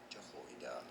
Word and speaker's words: Jehoiada: So to say more interesting and often confusing biblical names, some of the most mispronounced ones, in fact. Jehoiada, Jehoiada the priest commanded each of them to